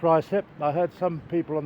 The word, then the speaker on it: Ruislip: first of all let me explain that it's pronounced Ry slip I heard some people on the tube once call it Ryu slip which is completely wrong anyway this uh this